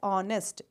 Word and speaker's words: honest: man we use honest h is silent and we pronounce it as honest o nest okay so